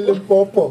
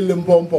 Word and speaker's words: Limpopo: Yeah, it's actually Limpopo, but most people say Limpopo.